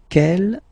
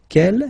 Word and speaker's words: quel: Okay, but then we pronounce them the same way.